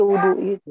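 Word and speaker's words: الوضوء: Lil wudu itu. Wudu'i. Lil wudu'i. Oke, bagus. Jadi bacanya bagaimana, Bu?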